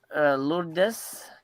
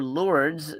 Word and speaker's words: Lourdes: This is from the same director, Lourdes, or Lourdes, depending on how you want to pronounce it. But my mother's name is Lourdes, so that's how I'll pronounce it.